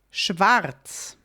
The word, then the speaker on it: schwarz: Also, sometimes Austrians and German-speaking people, we will, in this case, just not say the R. There is an R in this letter. You spell it, the whole word schwarz, black, is spelled SCHWARZ. So there's an R at the very end or the second to last word. And very often we will just leave it out.